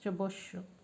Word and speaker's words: Chebyshev: Well, the pronunciation of this name is totally Indian right now, what I said, but basically this one is the name of a Russian. So this is a Russian name, and in Russia it is pronounced as Chebyshev.